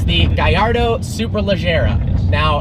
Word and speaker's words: Gallardo: island unfortunately it's the guy Ardo superleggera now it is pronounced guy our dough because the name is a Spanish fighting bull even though lambhini is an Italian company it is not Gallardo and it is superleggera